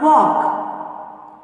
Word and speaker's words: walk: Third one, walk. Here the silent letter is L. Then circle the letter L.